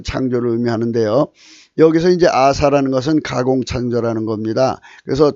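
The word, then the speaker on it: עָשָׂה: 음역으로 아사흐 아사인데 히자를 붙이면 아사 이런 글자가 없죠. 그래서 아사흐 이제 모음을 붙여서 부릅니다. 아사흐 발음은 아사입니다. 아사.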